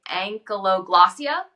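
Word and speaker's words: ankyloglossia: and like medically they're called how do you pronounce it it's like ank glossia yep you got it you got it okay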